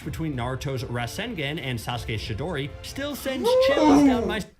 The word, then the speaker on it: Chidori: Absolutely, but you know how to say the Chidori. You can't look at CH and just go, well, obviously SH. Yeah, that's weird. obviously pronounced sh.